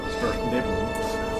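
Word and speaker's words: Svirfneblin: Svertneblin.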